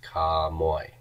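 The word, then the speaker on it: κἀμοί: Kai amoy becomes ka moy.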